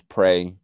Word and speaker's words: Prey: Me versus Prey, Pre. That's how he pronounces it. That's how he spelled it.